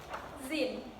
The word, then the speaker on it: zine: So, a Zine is pronounced as Zine, just like the end of the word magazine.